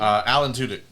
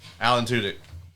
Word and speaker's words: Alan Tudyk: Alan Tudyk. Thank you. It's like Joe Alan. Henry. It's like a guy named Alan with 2 dicks. Alan Tudyk.